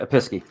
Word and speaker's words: Episkey: please and chandrew she usually does those but episkey that's correct schmidt i'll say it right episky correct all right so six six they both